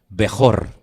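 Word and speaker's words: בכור: La palabra primogénito en hebreo se pronuncia así como la tienen ustedes en la pantalla, Bejor.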